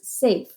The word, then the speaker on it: safe: Safe. And we hear the F. Right now, this says saf. In order to make it safe, we put that silent E at the end, and now it becomes safe.